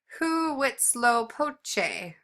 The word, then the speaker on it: Huitzilopochtli: It's pronounced Huitzilopochtli, hmm, whose temple was in the south, and